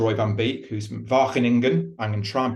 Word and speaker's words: Wageningen: Roy van Beek, who's from Wageningen. I'm going to try and pronounce that correctly, Roy.